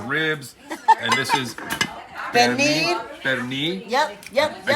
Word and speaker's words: Pernil: Pernil.